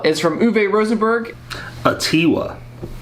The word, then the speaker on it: Atiwa: rosenberg's Ottawa well Ottawa is from uve Rosenberg a tiwa apparently if the stress is on T and it's uh it